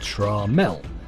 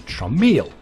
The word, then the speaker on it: Tramiel: On May the 17th, 1984, Tramiel Technology Limited, TTL, was founded by Jack Tramiel, pronounced Tramiel.